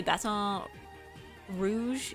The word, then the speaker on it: Baton Rouge: Yeah, Louisiana natives say Basson Rouge. Yeah, I've heard that. Baton Rouge.